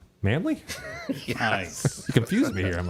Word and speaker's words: Manley: is Richie he says Dexter Manley pronounced Dexter manly nice confus me here